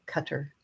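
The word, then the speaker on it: Qatar: Arabic pronounced more like cutter.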